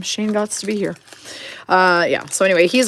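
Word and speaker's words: Gostisbehere: can't not say it Shane gots to be here that's how we pronounce his name Shane gots to be here uh yeah so anyway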